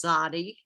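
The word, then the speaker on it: tzaddi: it's spelled t z z d i and pronounced zodi and the symbol for it is a fish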